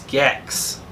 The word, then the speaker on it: Gex: It's not Gek. It's Gex.